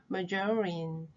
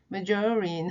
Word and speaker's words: margarine: 그런데 우리말로 마가린인데 발음을 어떻게 하는지 아세요? margarine, margarine.